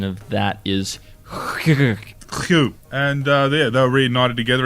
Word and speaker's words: Kew: Yeah, I think the correct pronunciation of that is Kew.